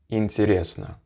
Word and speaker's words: интересно: It should just be a sound that is kind of like in the upper back of your throat pronounced, and just like E. An example word of this would be интересно, which means interesting, as you might have guessed. Интересно. And not what some English speakers do.